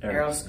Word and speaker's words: Eros: Eros.